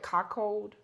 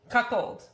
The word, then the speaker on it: cuckold: Cockold. Cuckled.